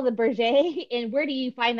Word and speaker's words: Berger: So it looks like burger, but it's the French Canadian company, and it's Berger is how they pronounce it.